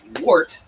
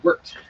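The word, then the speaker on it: wort: much i i've read that it's actually not pronounced wart it's pronounced worked we're even though it's filled with an o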